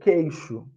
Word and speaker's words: queixo: Queixo tem o Q e o U, mas só sai o som do Q. Queixo.